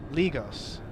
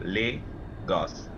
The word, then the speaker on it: Lagos: it's it's not lagos it's not lagos that is the redneck way ligos no it's l-a-g-o-s-o lay gas like l.a lay dogs yeah lagos well thank